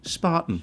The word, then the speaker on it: Spaten: Okay, so Or German pronunciation, Spartan. Spaten. But we're in Starbridge, so Yeah, Spaten.